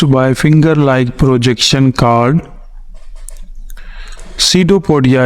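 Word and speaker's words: pseudopodia: finger like projection called SIDO पोडिया इसका पी जो है वह साइलेंट है सीडो पोडिया कहा जाता है इसको तो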